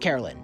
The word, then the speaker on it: Caroline: Spelled Caroline, but pronounced Carolyn. No idea how that happened.